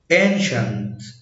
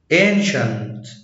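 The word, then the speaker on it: ancient: طب لو جه بعديه حرفين متحركين وراهم حرف ساكن ينطق ش، زي اوشن، السي جه بعديها اي اي حرفين متحركين وبعد كده حرف ساكن فاتنطقت ش، اوشن، اوفيشال، اوفيشال، انشنت، انشنت، الكتريشن، الكتريشن.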